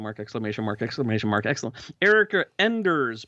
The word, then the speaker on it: Enders: exclamation mark excellent Erica Enders pronounced just like it's spelled not endres did I say Andres